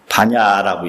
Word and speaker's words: 반야: 예를 들면 불교에서 반약바람을 이랬다가 쫓겨나요. 그게 글자는 약자인데 반야라고 읽어야 돼요.